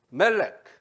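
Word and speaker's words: מלך: 그러면은 여기다가 MLK에다가 E 사운드를 중간에 집어넣습니다. 그럼 어떻게 발음하면 될까요? 멜렉.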